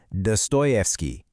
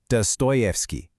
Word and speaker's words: Dostoevsky: It's Dto Stoyfki. does stovki. The trick is to really lean into that toy sound in the middle.